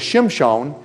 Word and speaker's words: Shimshon: no it doesn't but everybody usually pronounce it's Samson based on the Septuagint the Greek text of the Old Testament they don't even know why but actually his name is Shem Sean Shem Sean is actually